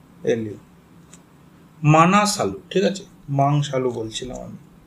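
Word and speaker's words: Manaslu: এটা ধোলাগিরি ইংলিশে লেখা হয় Dhaulagiri Annapurna মাংসালু এম এ এন এস এ এল ইউ মানাসালু ঠিক আছে মাংসালু বলছিলাম আমি তারপর তারপর গৌরীশংকর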